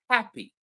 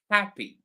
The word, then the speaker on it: happy: It's the opposite of happy, happy.